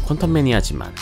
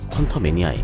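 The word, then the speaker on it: Quantumania: 작품의 개봉일 순서가 바뀌었습니다 부제의 한글 표기는 퀀텀매니아지만 영어 발음으로는 퀀터 매니아에 가깝습니다 이번 작품의 메인 빌런으로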